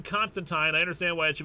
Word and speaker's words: Constantine: has always pronounced it Constantine but it is officially Constantine all the creators say it's Constantine in the comics it's officially Constantine rhymes with wine do you think that